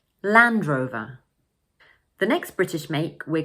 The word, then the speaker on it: Land Rover: We also place most of the stress on the first word, land. So in full, this make is Land Rover. Land Rover.